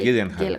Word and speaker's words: Gyllenhaal: Eh, Gillian Hall, Jake Gyllenhaal, Jake Gyllenhaal, sí, eso cómo sí. se pronuncia.